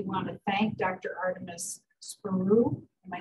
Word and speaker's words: Spyrou: Artemis Spyrou. Am I saying it correctly? Yeah, Spyrou.